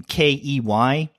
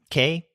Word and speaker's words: Kei: K-E-Y? Kei? It's not Key.